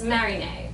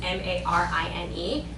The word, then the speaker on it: Marine: So she pulled Rachel over and said, there's one problem, it's Marinée, but when she had typed in, the way you spell it is M-A-R-I-N-E, it kept saying Marine, not her name.